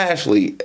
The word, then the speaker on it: Mashle: Well, this is pretty much the world of Mashle. I would keep calling it Mashle. It was Mashle because it's spelled Mashle, but it's not Mashle, but Mashle.